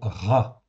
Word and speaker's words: רע: Donc le mot Ra que l'on voit ici, Ra, ça se prononce Ra en français, ça s'écrit avec un Resh et un Aïn, Ra tout simplement.